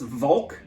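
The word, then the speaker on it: Walch: of germanic influence and the last name is pronounced volk even though it's spelled w-a-l-c-h um uh she know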